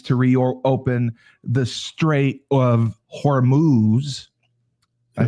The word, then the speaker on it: Hormuz: Trump threatened to strike Iran's oil heart and threatening to send Marines to reopen the Strait of Hormuz.